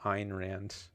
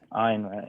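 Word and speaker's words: Ayn Rand: Einrand. Einrand. Have I been saying? I think you said a rhymes with mine.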